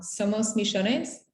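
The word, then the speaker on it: Somos millones: i did it wrong somos michonnes well that's my argentinian accent but you say it right you say the neutral spanish yeah but we argentinians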